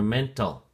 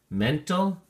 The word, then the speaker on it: mental: Let's take a look at the flashcard for mental. Mental has two syllables, and the emphasis or stress is on the first syllable, men. So we say mental, mental.